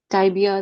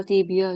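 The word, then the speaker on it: tibia: टाइबिया, टिबिया, जो भी pronunciation आपको अच्छी लगे, ठीक है।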